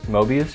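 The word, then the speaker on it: Moebius: And this is what Mobius showed you? Yes. Oh, that's how you pronounce it.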